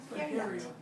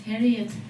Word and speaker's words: Feryat: My name is Feryat. Feryat. It's 2 syllable. Feryat. That's just I in the middle. And you are so close because usually people think my name is Harriet.